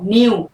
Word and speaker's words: knew: ठीक है, के silent, knowledge. KNIGHT, night. KNEW, अच्छा, नो जानना, नॉलेज मालूमात। KNEW, नो की सेकंड फॉर्म, न्यू।